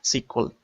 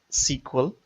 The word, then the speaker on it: SQL: languages the main database language sequel pronounced age sequel and written age SQL SQL a structured query